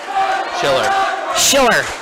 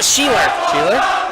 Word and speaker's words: Sheeler: Schiller. No, Sheeler. Oh. Sheeler.